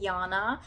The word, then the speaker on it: Yana: I got this name Yana in Europe it's actually spelled with J um here we pronounce it with Y and I always loved